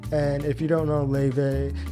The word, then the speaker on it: Laufey: And if you don't know LAUFEY, she could also be called LAUFEY, LAUFEY. I think that's the Icelandic pronunciation.